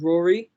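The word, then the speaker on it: Ruairidh: it to other names i went to school with a person called rory and his name was spell r-u-r-a-i-d-h and um it took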